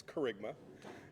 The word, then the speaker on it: Kerygma: I know some of you have been wondering how to pronounce that word that's up there. It's Kerygma.